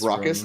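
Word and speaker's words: Rakdos: the rumpus room well I know it's not rumpus we can get uh we can get some pronunciation guides but I'm gonna call it rockus rockus I'm getting I'm getting an update it is rockus I'm a genius everybody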